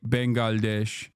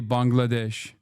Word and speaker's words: Bangladesh: Now Turks are saying Turks used to say Bengalesh and now they say Bangladesh. So I wasn't wrong. Turks used to mispronounce it and because I'm 33 years old and an old man.